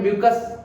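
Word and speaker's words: mucus: इसको म्यूकस नहीं, मैं तो मकस कह देता हूं, ठीक है, लेकिन तुम्हें म्यूकस एग्जैक्ट प्रोनाउंसिएशन है इसकी।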